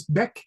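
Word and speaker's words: Bach: So, Ben, you spell it B A C H, but the pronunciation is Beck.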